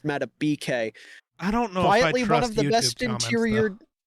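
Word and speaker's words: Justin Madubuike: Also, Justin Matabike. I've been informed. I've been saying his name wrong. Nope. Someone in my YouTube comments told me it's Meta BK.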